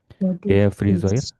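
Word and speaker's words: Friseur: rambut atau salon apa Fre Resur dibacanya oi ya. Au e o. Kalau sendirian dibacanya seperti bahasa Indonesia tapi kalau doble biasanya ada yang berubah ya. Oi kecuali yang au tadi au tetap au ya tidak berubah. Tapi kalau e u ohi frizoir laki-laki kalau perempuan ya normal aja firin gu ya.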